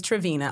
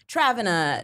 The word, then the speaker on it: Travina: it was okay so my name is travina I'll get Travon a treviño jinnia it's all these remixes I'm like why people